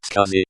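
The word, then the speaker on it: SCSI: for an IT company you'd put experience with scuzzy on this resume for non-techies cuz it is a type of hard drive pronounced Husky wrote it but never in a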